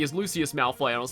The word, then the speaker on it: Lucius Malfoy: And uh when I did that uh I I I called Lucius Malfoy Linkus Malfoy. I don't know why. I don't know why I thought there was a K in there, but that's how I